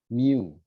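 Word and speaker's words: μ: Yang seperti huruf U, ini bacanya mu.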